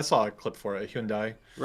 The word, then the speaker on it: Hyundai: Hundai runs with rhymes with Sundai. Sundai. Now, I can't say Sundai, right? Hyundai.